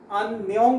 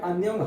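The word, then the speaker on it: 안녕: So how many syllables are there in Anyong? Yes, yes, right. It is two. Okay. So in first syllable it is an, then second syllable is nyong. Okay. So first we will write an. Okay. It is an. Then second syllable we will write nyong. Okay, so first syllable is an, second syllable is nyong, so it is anyong.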